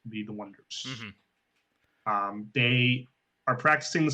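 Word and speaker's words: Oneders: band should be the Wonders. However, they should spell it like one, as in the number one, O-N-E, Durs.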